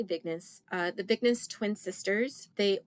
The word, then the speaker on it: Vignes: And yeah, this story follows the Vignes or Vines. It's spelled Vignes, so I'm going to say Vignes.